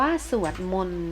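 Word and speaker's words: สวดมนต์: คิด 2 วินาที ก็ อ่าน ว่า สวด มนต์ นะ คะ ต.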